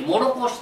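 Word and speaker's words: 唐土: その下、唐土と書いて、もろこしと読みます。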